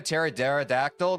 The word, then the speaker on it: pterodactyl: Why can't you a pterodactyl go to the bathroom? Yo, mom call, I don't want to take your thunder, but I think it's because the P is silent.